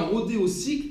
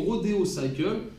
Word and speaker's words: Rodeocycle: cycle de motoécane et l'on dit bien Rodeo cycle et non Rodeo cycle parce que c'est une fabrication française alors on prononce à la française donc ce rodéo cycle